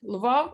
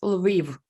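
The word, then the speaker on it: Lviv: is there a russian and ukrainian way to pronounce that one as well correct luvo it's a russian way oh no and correct way in ukrainian way it's leave okay i spent some time in in ukraine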